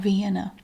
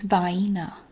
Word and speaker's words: Vienna: It's not Vienna. No, it's vina. Vina. It's like hyena but vina.